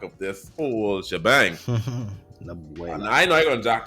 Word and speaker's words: Abuela: And Abuela, I know you're gonna jack this up. Umbrella? abuela, Umbrella? How you pronounce it?